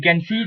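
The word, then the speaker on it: quinze: u i z e so again q plus u becomes ca so it becomes cance cans and i i is basically silent cans sa veg or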